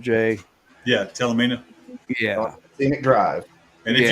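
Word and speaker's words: Talimena: We rode that Talanina highway. I don't know if that's how you pronounce it or not, Jay. Yeah, Talamina.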